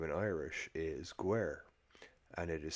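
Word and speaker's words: Guaire: It's in Wicklow, and it's called Gorey, and its name in Irish is Guer, and it is spelled Guiaore, Oh wait, dig.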